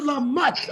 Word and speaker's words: Lamotte: Lamoute. Go ahead, brother. Did I say it right that time? Mutt. You know a mutt? A doggy? Like a dog. Lamotte.